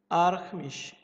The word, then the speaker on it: Archimesh: I pronounce it like Germany. Archimesh.